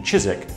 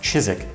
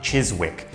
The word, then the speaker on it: Chiswick: least the 1600s and this is located in chizik yes it's pronounced Chiswick not Chiswick in West London so the brewery that's currently